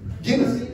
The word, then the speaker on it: Guinness: Guinness. Guinness, ajá.